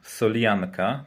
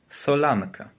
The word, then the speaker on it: solanka: wymowie więc nie jest więc nie jest to żadna solianka tylko solanka pod taką pod taką